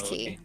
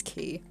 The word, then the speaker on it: Quay: it's spelled like quay i think it's key because i was pronouncing it wrong and someone was like actually it's key in pronunciation how are you meant to know that when it spell when it's spelled quay oh south key okay